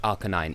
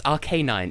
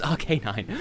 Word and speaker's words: Arcanine: do people pronounce it Arcanine it's Arcanine it is an Arcane canine it is Arcanine why do people call